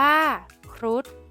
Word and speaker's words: ครุฑ: เด็ก ได้ แก่ คำ ว่า ครุฑ อ่าน ว่า ครุฑ คำ ใน มาตรา ตัว สะกด แม่ กด ที่ มี ฒผู้ เฒ่า เป็น